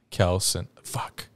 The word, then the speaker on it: Kelce: well that's how like they said that their name's pronounced Kels old Mahomes calls them